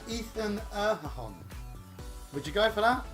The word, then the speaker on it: Erhahon: It's Ethan Erhahon. Would you go for that? Erhahon? I'm going to go for Erhan. Erhan. Because if you look at how McMahon is spelled.